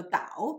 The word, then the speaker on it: 导: The character here should be pronounced in the third tone rather than the fourth tone because it is used as a verb, means lead. So 导 means lead.